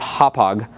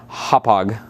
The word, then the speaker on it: Hauppauge: You want to make sure you know how to say it's Hauppauge. Hauppauge. The CEO actually told me.